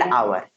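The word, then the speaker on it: hour: दोस्तों, ये इस शब्द की शुरुआत जो है यक्ष से यानी व्यंजन से हुई है, लेकिन जब इसका उच्चारण करेंगे तो स्वर आ जाएगा। जैसे एन आवर, आ यानी स्वर आ रहा है, इसीलिए हम यहाँ पर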